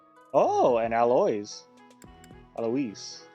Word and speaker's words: Alois: Alois, I think is how it's pronounced.